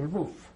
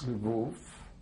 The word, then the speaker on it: Lwów: I moved with my parents to Lwów. I pronounce the name of the city in Polish. It would be probably useful if I will indicate that the city in Polish is Lwów.